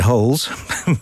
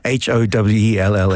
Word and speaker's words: Howells: You could pronounce it Holes, but sorry, Howells.